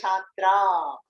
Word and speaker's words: छात्रा: Then Aham Chhatra. You have to put a long A at the end.